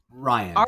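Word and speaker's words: Rian: Ryan, yeah.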